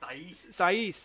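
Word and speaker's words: Saïss: have seisin you know says is that you pronounce his name the wolf's defender uh romans saiz that's it thank you um he's a good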